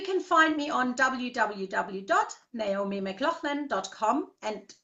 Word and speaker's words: McLaughlan: find me on wWOZ mclaughlin calm and mclaughlin is spelled MCL ough LAN so it's laughs and Len mcLaughlin calm and you